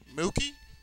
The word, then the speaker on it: Mookie: Give me a fantasy team match off, a fantasy match to go with MOOKIE. Hey, it rhymes with Pookie.